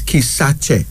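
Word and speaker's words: Kisakye: spelled k i s a k-y-e but it's pronounced as kisache the Bagan the people of Uganda a unisex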